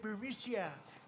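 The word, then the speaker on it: Burisma: with the burmese executives so this uh buremicia bermucia they say pronounce it bericia a real beautiful company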